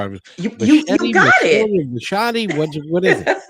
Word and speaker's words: Meche'tte: Machete. What is it? It's Meche'tte.